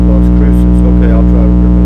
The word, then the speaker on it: Las Cruces: If I mispronounce something, it's okay. But thank you for correcting me. Las Cruces. Las Cruces.